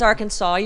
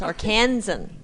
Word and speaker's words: Arkansan: the pronunciation our kids a lot of people think it's arkansas but it's not it's arkansan arkansan right hello arkansans named